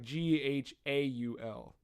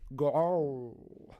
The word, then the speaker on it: Ghaul: It's close like ghoul, you know, but it's like Ghaul. Like Gal? Gaul.